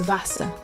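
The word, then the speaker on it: Wasser: English say it fogal w is pronounced V one example is Vasa that's water Vasa means water in English let's say it Vasa X is pronounced x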